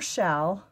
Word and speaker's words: Challe: I just call her shell um and it's spelled s it's spelled c h a l l e but it's pronounced like shall like shall we dance shall we go to